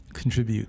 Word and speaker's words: contribute: Contribute. How many syllables? Contribute. Contribute. Or? Contribute. Okay, still 3 syllables.